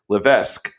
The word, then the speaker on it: Levesque: right you'll let me know in a minute Levesque she is she's nodding so I got it